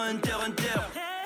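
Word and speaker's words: Hunter × Hunter: Moi, je suis un passionné qui te parle avec le cœur quand je te dis qu'on prononce pas le X dans Hunter Hunter.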